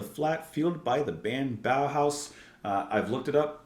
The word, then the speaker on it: Bauhaus: of in the flat field by the band bow house uh I've looked it up and I'm pretty sure I have their name pronounced correctly so bow house uh this is